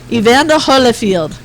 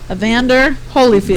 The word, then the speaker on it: Evander Holyfield: here so we can punch your ass out ianda holfield how old is Mr Evander field Evander field or iander field holderfield right avander Evander Holyfield there you go there you go I can